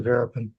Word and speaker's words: Verapin: Counselor Rappin. Rappin. Give me the correct pronunciation, please. Good morning, Your Honor. It's pronounced Verapin.